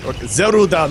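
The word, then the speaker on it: ゼルダ: Zelda muso in Japan or zeruda muso uh because Zelda has three syllables in Japanese but but that's still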